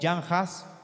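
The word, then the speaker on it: Jan Hus: Está John Wycliffe, John Haas, o Jan Haas, que es así como se pronuncia en checo, pero en inglés lo conocemos simplemente como John Haas, y Girolamo Savonarola, que nació en Italia, ¿okay?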